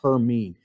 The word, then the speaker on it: Hermine: on the list is hermine and if you're a uh um Harry Potter fan I think they said Hermione in that one but it's pronounced her mean so this is the